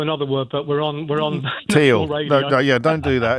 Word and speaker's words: Thiel: Teal, apparently. I mispronounced that. I've been corrected. I'm sure I got corrected when I said Teal to Thiel, and now I've said Thiel and everyone's saying Teal.